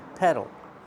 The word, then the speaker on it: pedal: Use the short e sound like in bed and red. Peh peh It's closed. Eh eh eh peh pedal.